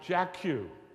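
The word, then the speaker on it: Jackiw: pronounce the last name say that real loud jeu that is exactly it is spelled j a k a i w exactly Jack Q but a player you should have a recording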